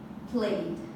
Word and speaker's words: played: For example, almost all the words that are in simple past, you pronounce them with the D. For example, played. Okay, you pronounce played, right?